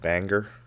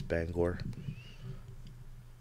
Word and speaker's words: Bangor: a lot of people I wanna call it banger and that's really not what we call it it's Bangor banger yes now now there's